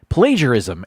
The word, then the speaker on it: plagiarism: Number 6, plagiarism and plagiarize. The second syllable in both plagiarism and plagiarize is pronounced like the second syllable of pager.